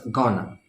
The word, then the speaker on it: gonna: I plus M and going to becomes Ghana so I'm gonna telling